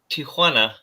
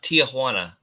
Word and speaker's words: Tijuana: let's see Eugene bird says it's it's it's pronounced Tijuana not Tiana face palm sorry the sign he's uh no